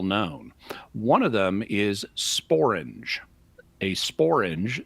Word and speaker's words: sporange: One of them is sporange.